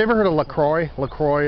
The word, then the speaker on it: La Croix: heard of la croix lacroix it's like i think it's pronounced lacroix it's like a sparkling